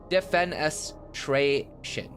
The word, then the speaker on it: defenestration: And we can't That was pronounced defenest defenestration. Defenestration.